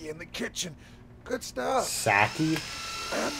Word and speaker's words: sake: Sake? I'm not a very good mercenary. It's sake, you motherfucker.